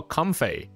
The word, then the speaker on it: Comfey: video on YouTube and this is how they pronounce comy or com apparently com it's com in today's video we